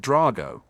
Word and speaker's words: Draco: But on the other hand, most of the kids at DMstrang are Eastern European, and my name sounds a lot more impressive when people pronounce it Drago.